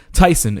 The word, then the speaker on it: Theisen: Tyson is spelled Theisen. Yes, that's how you spell and pronounce it.